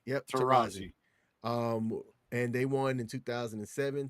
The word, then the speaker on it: Taurasi: Their championships all came with the Hall of Famer, Diana, I always say her last name wrong, Taurasi? Diana Taurasi. Yep, Taurasi.